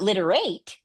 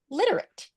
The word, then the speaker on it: literate: So you can see how many, it's not literate, it's literate. And you can just keep going through. And that would be where if they read the last syllable and they read literate, I say flex the last syllable to a schwa.